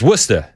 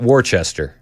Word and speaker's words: Worcester: Like Worcester. It's Wora, right? Not Warchester, right?